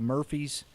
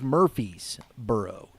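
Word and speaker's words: Murphysboro: community college out of Murphy's and it is Murphy'sboro Illinois I I said Murphy's and he I I was corrected quickly got to say it right and that has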